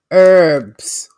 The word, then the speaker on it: herb: little vega 18 probiotics the h is silent in most of the us of a herbs it's herb that's not